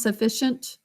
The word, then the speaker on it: sufficient: it um that's right i would say for the e we do say that a little bit like an a sounds sufficient so for my first class